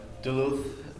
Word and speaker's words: Duluth: So Duluth, as you said, that's the pronunciation, is not actually the only place you've ever lived in, right?